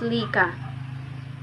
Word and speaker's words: licha: The abstract idea of religion was correctly shown in sculptured objects known as licha, pronounced lika, or larawan reverently worshipped by the natives.